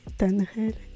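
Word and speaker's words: Tanerélle: chauss en première partie prononciation exa c'est tanrel et je sais pas pourquoi je dit je le dis mal tout le long désolé je suis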